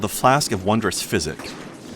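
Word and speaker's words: Physick: And I'll give you the correct pronunciation. It's called the Flask of Wondrous Physic.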